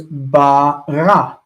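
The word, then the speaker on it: ברא: Whereas this word is ba-ra, with the stress on the end.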